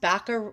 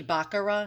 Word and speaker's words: Baccarat: workmanship on that bottle i pronounced baka uh i pronounced one of my bottles before that i showed you the commercial one um made in france baccarat it's really baccarat so i'm just like i know someone's gonna write in the comments you pronounce that wrong back to the tier